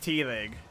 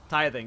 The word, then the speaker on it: tithing: You can keep tell reminding me how to say it. Teething. Tithing. Tithing. Tithing. Tithing. I'll get it right eventually.